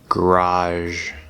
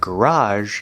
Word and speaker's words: garage: a word beige mirage garage note that garage can also be pronounced garage with a j sound if you're familiar with the pronunciation garage that is a british pronunciation not an american pronunciation and now let's finish